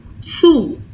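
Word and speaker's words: sous: difference between these two the pronunciation for is it has the u sound Su here it has the u sound s sure next one is there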